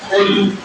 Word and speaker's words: قل: نا، اس کا معنی آپ کھا لیجئے۔ لفظ تلفظ کے ساتھ کیا ہے؟ قل، قل کاف کے ساتھ، دو نقطوں والی کاف،